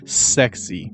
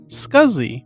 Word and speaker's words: SCSI: thus scuzzy was born scuzzy was supposed to be pronounced sexy but dale allen said scuzzy and it's stuck scuzzy stands for small